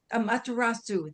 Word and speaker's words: Amaterasu: ritual of raising my hands to the goddess Amaratas, whoops, I usually can say her name, but not today, the Japanese goddess of the sun. And Amaterasu, thank you.